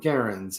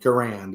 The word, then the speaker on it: Garand: of them are M1 garens or M1 Garand is how most people mispronounce John garen's last name what's happening Paul Bennett